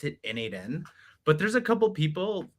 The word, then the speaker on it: n8n: to Lindy, and the Lindy folks called it Nathan.